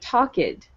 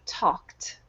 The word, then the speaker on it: talked: Okay, so whenever you see these types of endings, you want to pronounce the ED as if it were a T. Okay, so it should not sound like talked. No, it should be talked, walked.